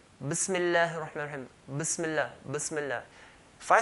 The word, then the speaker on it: Bismillahi: What we need to do is just to hold and then let go. Bismi. Make a sharp S sound, hold, let go. Bismillahi. And not qalqala, echo sound, bismillahi, but bismillahi. So bismillahi.